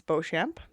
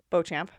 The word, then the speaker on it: Beauchamp: And I said, I said Beauchamp, and she's like, the P is silent, and I was like, oh, pardon me.